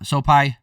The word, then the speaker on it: Sopaj: man uh venicius Oliva versus Bernardo so uh soai that's how you pronounce it uh soai winding up and trying